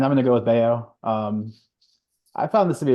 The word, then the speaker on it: Bello: Well, who is your over 50 person that pronounces it at Bello? Probably there's a lot of people that think it's Bello.